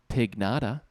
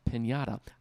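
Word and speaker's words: Pignada: 50th with a chocolate pig nada now you might be saying conor it's pronounced pinata i know how it's pronounced i've had birthday parties before i'm talking about a pig nada p-i-g-n-a it's a chocolate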